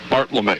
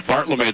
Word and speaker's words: Bartlome: Bartlome. Is that the correct pronunciation? You got it. All right. So it's Bartlome, the courtesy runner, now on second after that balk.